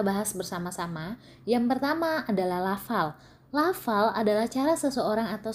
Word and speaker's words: lafal: Jadi ada orang yang mengatakan kata lafal dibaca menjadi lapal. Itu adalah salah satu contoh pengucapan lafal yang salah. Lafal berarti kita ucapkan, kita baca lafal, bukan lapal.